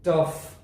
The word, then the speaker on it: tough: چې د واویل څخه وروسته راغلی دی enough تلفظیږي. یا مثال په ډول سره یو بل لغت د واویل څخه وروسته راغلی دی tough د فی غږ افاده کوي.